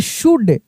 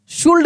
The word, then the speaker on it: should: SHOULD, शुड, शुल्ड नहीं, शुड, वुड, शुड, talk, काम, palm, half, काफ।